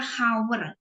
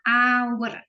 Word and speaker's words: hour: Terus jam, walaupun dia tulisannya H, tapi kita nggak baca hour, bacanya hour.